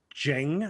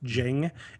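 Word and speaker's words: Dieng: plus i think georgie jang i believe it's pronounced jing uh i've i should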